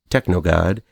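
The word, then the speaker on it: TKNOGD: enjoy in this one TK n o d pronounced technog God was another one that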